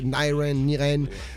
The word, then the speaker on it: Nyraine: Niren, pour les auditeurs, si vous allez checker sur YouTube, c'est NY comme New York d'ailleurs, NYRAINE, c'est Niren, vous le prononcez comme vous voulez et vous allez checker ça, des gros titres.